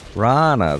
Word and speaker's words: Rana: Rana, that's how you pronounce her name.